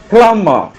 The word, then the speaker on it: plumber: spelling uh so like the next word it's pronounced as plama okay write the next word p l u m b e r plum bar it's a it's the spelling of